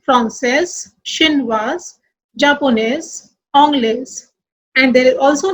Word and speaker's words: Japonais: Here, all these nationalities are ending with S. So we will not pronounce S. As I told you, words ending with S, D and T are silent in masculine and sounds in feminine. So we will pronounce only Français, Chinois, Japonais, Anglais.